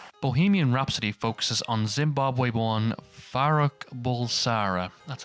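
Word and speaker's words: Farrokh Bulsara: Bohemian Rhapsody focuses on Zimbabwe-born Farouk Bulsara. That's how you pronounce it, yep.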